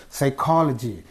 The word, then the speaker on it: psychology: And the next, words ending in logi take stress on the syllable immediately before the suffix. Logi words are the psychology, logi. Okay, this is the suffix. And what is the syllable preceding the suffix? Co.